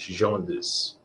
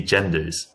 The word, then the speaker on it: genres: It's a French word, okay? We use this, genres. It just looks to me genders. It looks genders, but we genders, but it's also genres. So there are two ways of pronouncing it. Yeah. Different meaning. Genders for women, men, but genres for different topics. Like, what's the difference? It's like genres, like nasal? Can I do? It's like a Z S H.